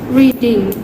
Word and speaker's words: reading: For example, reading. Reading gets 2 syllables, and the stress syllables is on re.